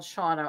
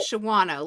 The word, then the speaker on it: Shawano: There's a town in Wisconsin called Shawano. I've been there many times. It's not Shawano like it looks.